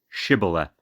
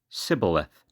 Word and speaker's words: Shibboleth: If he said no, they would say to him, "Then say, Shibboleth." And he would say, "Sibboleth," for he could not pronounce it right.